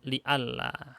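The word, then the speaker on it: لئلا: Ini bacanya li'alla. Aslinya li-an.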